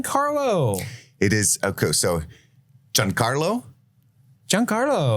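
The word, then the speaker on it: Giancarlo: it is okay so John Carlo John Carlo John Carlo John Carlo exposito I love him it's an Italian pronunciation I'm going to take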